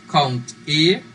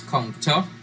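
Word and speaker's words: COUNTA: right so next we're going to look at count e and count so please do not pronounce this as kung ta it's count e so our next reader is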